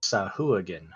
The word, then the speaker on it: sahuagin: According to D&D Beyond, it's pronounced Sahuagin.